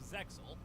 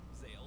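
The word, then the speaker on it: Zexal: in the series Yu-Gi-Oh zeil or Zale if you prefer the original pronunciation is where things start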